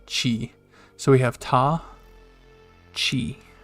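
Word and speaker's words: ち: on the saw and once again this is pronounced chi so we have ta chi all right this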